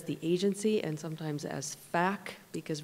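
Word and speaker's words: PHAC: agency and sometimes as FAC, because we pronounce our acronym with an F at the front. The PH is an F.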